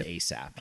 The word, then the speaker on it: A$AP: Yes, the S is a dollar sign, but still pronounced A$AP.